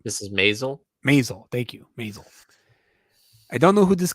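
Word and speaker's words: Maisel: in Amazon Prime Mrs masel masel thank you masel I don't know who this guy is never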